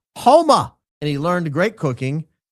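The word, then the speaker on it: Houma: It's pronounced Homa.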